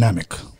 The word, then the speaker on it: Namek: Yeah, it's Namek, like dynamic, brother.